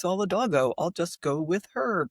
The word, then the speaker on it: Solidago: us, please, very respectfully, could we stop saying Solidago and say the way it's supposed to be pronounced, which is Solidago.